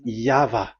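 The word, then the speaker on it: YHVH: Y H V H. So it is YAHVAH.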